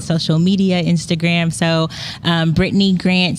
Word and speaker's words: Brittane: media Instagram so um Britney Grant so my name is spelled different it's b r i TT a n e that's how you spell